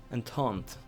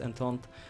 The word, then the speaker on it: Entente: Entente, as someone said, I should pronounce it as Entente.